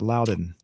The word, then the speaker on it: Loudoun: it's pronounced Loudon. Mm. The I find it funny. The Fox News has been reporting this because Oh, because uh, it's loud. It's the word loud, so it's Loudon.